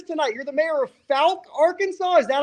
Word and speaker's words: Fouke: You're the mayor of Fouke, Arkansas. Is that how you pronounce it? Fouke, Arkansas, the home of the Boggy Creek Monster.